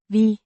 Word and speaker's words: vi: Vi har sådan en efterspørgsel efter produktet, at vi næsten ikke kan følge med. Vi means we, pronounced vi, similar to the English word v.